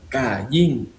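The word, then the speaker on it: קין: Porque le puso el nombre de cómo se pronuncia. Con fuerza, Kayin, aunque se escribe con Q de queso.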